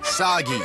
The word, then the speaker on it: Sagi: save us all is named Sagi rhymes with saki saki which I could use